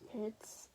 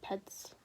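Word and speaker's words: Petz: I'm pretty sure her name is Pets. P-E-T-Z, Pets.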